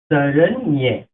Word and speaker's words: শরণ্যে: এখানে আবার আছে সারেণ্যে। তো সারেণ্যে উচ্চারণটা হবে কি ম র। এখান থেকে জফলা, জফলা উচ্চারণটা হবে মতিপন্ন ঋষিকার সংশ্লিষ্ট একার। তাহলে কি হলো সারেণ্যে, মানে এর উচ্চারণটা হবে সারেণ্যে।